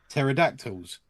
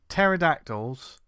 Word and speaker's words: pterodactyl: but yeah because then normally there's a silent P isn't there there's an A in pterodactyl isn't there no but like a p at the beginning of a pterodactyl oh of course I